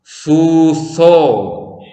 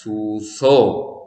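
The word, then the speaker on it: ܙܘܙܐ: അടുത്തത് സൂസോ. ആദ്യത്തെ അക്ഷരം സൈൻ, വവൽ ഉ. വാവ് സൈൻ ഓ. കഴിഞ്ഞുള്ള വാവ് ഉച്ചരിക്കുന്നില്ല. സൂസോ.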